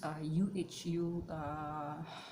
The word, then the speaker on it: UHU: If you ask me, I would prefer to use UHU glue. Those, I call it uhu, okay, because it's UHU, so I pronounce it uhu, the yellow thing.